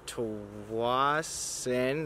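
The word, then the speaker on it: Tsawwassen: It is in Tawasin, that's how you pronounce it.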